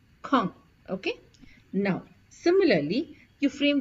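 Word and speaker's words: quand: d which means Ben now please pay attention to the pronunciation it is K Kong okay now similarly you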